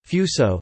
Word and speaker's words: Fusō: At the time, they referred to Japan as Fusang Chinese, Fusang Japanese pronunciation, Fuso, the name of a mythological country to the extreme east beyond the sea.